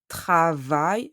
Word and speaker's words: travail: The word travail ends with A, I, L. When you have these letters at the end of a word, you pronounce I. Here, travail means work, like the work.